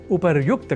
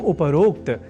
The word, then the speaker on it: उपर्युक्त: अर्थात उपरोक्त के स्थान पर उपर्युक्त कहा और लिखा जाना शुद्ध है। यह हमें अवश्य स्मरण रखना चाहिए। तो उपर्युक्त इस शब्द से बने वाक्यों के अभ्यास से हम उपरोक्त इस अशुद्ध उच्चारण और लेखन से स्वयं को दूर रख सकेंगे।